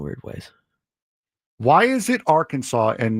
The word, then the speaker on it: Arkansas: Benton, Arkansas. Huber Heights, Ohio. Woo pig. Brunswick, Georgia. And Rockingham County, Virginia. They are looking at Arizona, Arkansas, Colorado, Florida, Georgia, Kentucky, Louisiana, Mississippi, Missouri, North